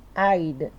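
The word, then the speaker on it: Eid: dois de Maio foi a ida se escreve aid né mas a gente pronuncia Aida Raid é nossa é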